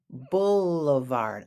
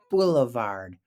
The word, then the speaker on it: boulevard: off at the bouevard bouevard I know it looks like bouevard but it's not it's Boulevard hey wide open streets like